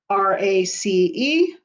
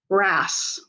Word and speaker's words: race: Make sure you put the silent E at the end to make the A say its name, or it will say RAS. We want it to say race.